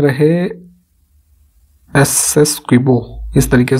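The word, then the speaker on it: Essequibo: हाल ही में खबरों में रहे एसएस क्विबो, इस तरीके से प्रोनाउंस करेंगे इसे, ये क्षेत्र है किन दो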